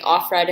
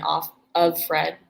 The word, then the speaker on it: Offred: happy oh that's interesting they said it both ways in the audiobook too like offred and then off of fred oh okay so pronounce